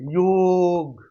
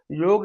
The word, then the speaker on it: योग: योग, हाँ बोलो आप, योग आनंद आता है, जुड़ना, जुड़ाव। योग शब्द के उच्चारण से जुड़ाव महसूस होता है। उसको अंग्रेजी में योगा, योगा, योगा से कोई अर्थ नहीं निकल रहा है यार।